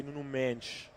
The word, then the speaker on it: Nuno Mendes: But a good interception by Nuno Mendes. Or as the Portuguese would say, Nun Mench.